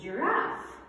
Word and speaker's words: giraffe: Yes, it's a giraffe. Giraffe. The beginning sound here is J. Why J? Because it is followed by I.